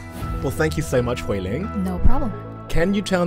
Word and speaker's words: Huiling: What is the tones of your name? Huiling. Huiling? Yeah. Okay, so it's fourth tone and second tone.